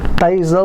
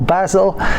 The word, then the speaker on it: basil: chopping off some again here's the difference in pronunciation basil or basil we're going to use